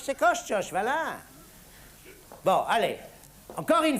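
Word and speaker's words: Koszczoszcz: Ça s'appelle Koshchosh, c'est Koshchosh, voilà.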